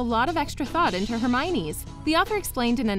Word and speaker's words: Hermione: she'd called her jane rowling revealed that she used to hear her myoni a lot but her favorite was herme wan she found it really cute but she also cunningly